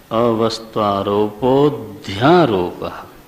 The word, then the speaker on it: अवस्त्वारोपोऽध्यारोपः: सर्पारोपवत् वस्तुनि अवस्त्वारोपोऽध्यारोपः हाँ, जब बोलते हो अवस्त्वारोपो अध्यारोपः वो गलत है। अ का उच्चारण फिर नहीं होना चाहिए, है ना। कैसा बोलोगे? अवस्त्वारोपोऽध्यारोपः।